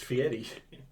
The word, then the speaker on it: Fieri: I think it's Guy Fieri. I think that's No. how it's pronounced. Well, Okay. you're wrong because it's Fieri.